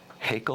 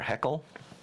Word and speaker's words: Haeckel: And this tree of life was drawn by, I think his name is pronounced Ernst Haeckel or Haeckel.